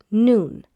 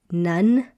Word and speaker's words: Nun: And you may have heard Joshua, the son of Nun. Many people pronounce this as Nun at the end here, but it's not Nun, it's Noon. So Joshua, the son of Noon.